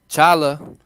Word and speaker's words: challah: Challah. Yeah, or challah is how we pronounce it in Hebrew.